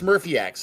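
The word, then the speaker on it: SmurfyX: the the dude's name it's smurphy X not smurphy X or Z Murphy ex or whatever we have butchered all over these years we finally know how to say it it's Smurfy X and well don't I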